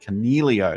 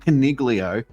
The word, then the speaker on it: Coniglio: don't they so uh now I got this bl's name wrong on the review show last or the recap show last week Canelo not Coniglio goodness me he's been